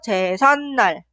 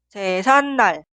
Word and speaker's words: 제삿날: Es la palabra compuesta de 제사 y 날. Y se pronuncia 제삿날, 제삿날. Podemos escuchar que la palabra anterior termina con la consonante final ni은 y la sílaba posterior inicia con ni은. Debe agregar 사이시옷. Escribir y pronunciar 제사날 son incorrectos.